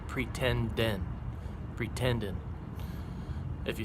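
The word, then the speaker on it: pretenden: t e n d e n and it's pronounced pretend n pretending if you say it fast and so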